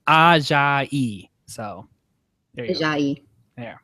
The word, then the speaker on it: Ajayi: do, that there's been so much talk of Jay Ajayi. He I learned how to pronounce it from Jeff because he did it so well. He was like Ajayi.